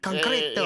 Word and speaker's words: concreto: It's just not pronounced the way you did, but it's the same. Yeah. Concreto.